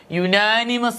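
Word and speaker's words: unanimous: was dash യുനാനിമസ് decision യുനാനിമസ് എന്നാണ് ഉച്ചരിക്കുന്നത് യുനാനിമസ് യ യുവിലാണ് അപ്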